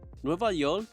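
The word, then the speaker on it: Nueva Yol: in New York City the title refle the phonetic pronunciation of New York in Puerto Rican Spanish Bad Bunny samples in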